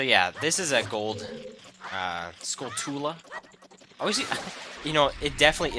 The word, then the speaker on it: Skulltula: And like it took me to like first start watching Let's Plays to really like realize, oh yeah, no, it's Skulltula. Like it's spelled that way too.